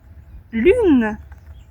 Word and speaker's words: lune: Ici, Lune, c'est quand même comment dire, un son compliqué à prononcer pour les apprenants étrangers. U, le son U est très rare dans d'autres langues. U, lune, lune, une lune.